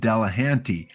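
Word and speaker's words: Delahanty: was the historical Ed bellahanti thanks again to someone that pointed out how to pronounce that properly Ed dalahanti uh the tragic story that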